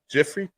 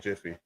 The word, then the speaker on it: Jif: Do you remember Jiffy peanut butter? Yeah. You remember Jiffy, right? It was Jiffy. I thought it was Jiffy. Peep game. It's not Jiffy. It's Jif.